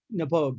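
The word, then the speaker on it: Knappogue: castle 12 year old nepogue yeah yeah i'm glad i skipped the k i pogue uh it's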